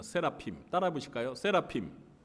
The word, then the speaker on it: 세라핌: 네, 그런데 발음은 스랍이 아니에요. 히브리어 발음으로는 이 스랍들이 세라핌입니다. 세라핌.